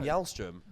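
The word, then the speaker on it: Källström: pronounce his name cuz not Kim calzone is Kim y'all strim we we we all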